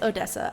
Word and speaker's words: Odessa: It's Odessa.